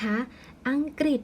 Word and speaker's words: อังกฤษ: กับ ตัว กอ ไก่ ฉะนั้น ตัว รึ นะ คะ จึง อ่าน ออก เสียง เป็น ริ นั่น เอง เรา ร้อง เขียน นะ คะ ริ แทน ลง ไป นะ คะ ใน ตัว สี แดง ฉะนั้น คำ นี้ นะ คะ ก็ จะ อ่าน ว่า ก็ เพราะ อะ อะ งอ อัง กอร์ รอ อิดอก ฤทธิ์ นะ คะ นั่น ก็ คือ อังกฤษ ค่ะ ส่วน ทำ ที่